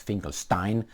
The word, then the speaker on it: Finkelstein: I remember Norman Finkelstein, or Finkelstein, however you want to pronounce it, it's Finkelstein, Dr.